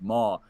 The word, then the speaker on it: maw: Dwight's Christmas, he's eating something and he's like, "This hog mama is great." and they go, I believe it's pronounced maw.